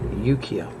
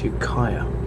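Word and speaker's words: Ukiah: put me right about the pronunciation of what i was calling yukiya it's yukaya oh i know this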